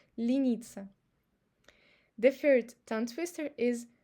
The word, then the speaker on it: лениться: And also in the last word, лениться, you see e is under the stress, and e, the previous e, pronounced as e because it's unstressed, лениться.